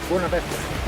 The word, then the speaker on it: Buena Vista: I'm saying that wrong. How do you say it? Buena Vista. Buena Vista. Buena Vista. Buena means good. Well, it's actually good. Buena is in Spanish. Buena. Good view.